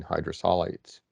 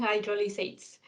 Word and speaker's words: hydrolysates: novel ingredients such as mealworm protein hydrosolides or hydroxylates i hope i'm saying that correctly please correct me if i'm saying it right yeah yeah protein hydrolysates yeah so no there